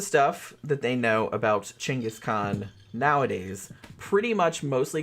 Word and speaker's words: Genghis: It's Chenis is kind of closer to the what would have been the Mongolian pronunciation, but like I said that's not his name.